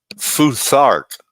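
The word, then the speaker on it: Futhark: Foothark, like phthales. You pronounce that foothark.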